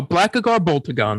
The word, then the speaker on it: Blackagar Boltagon: Oh, Blackagar Boltagon. That's his name. Mm-hmm. All right. You see Blackagar Boltagon, and he's in his comic accurate outfit.